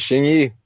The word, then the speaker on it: Hsing-I: First of all, how did I do with the pronunciation there of your specific style of Kung Fu? Is that right? That's right, Hsing-I.